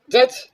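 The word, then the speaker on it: judge: जज D silent है। डी का साउंड नहीं आया।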